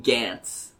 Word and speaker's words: Gantz: Has anyone seen Gantz? No. Okay. Gantz is really, really, really violent. It also rhymes with pants. It does rhyme with pants.